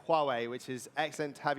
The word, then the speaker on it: Huawei: marketing and partnerships director some people pronounce it differently I heard someone say Hawaii the other day but it's Huawei which is excellent to